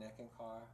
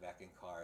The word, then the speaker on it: Eckankar: It doesn't really matter, but we don't really see that we become one with God in Eckankar.